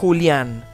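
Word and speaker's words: Julián: My first name is Julian. No, don't get confused. It's not Julian or Julian, Julian, with an accent on the A. Yeah, Julian. Remember, I am from a Spanish-speaking country.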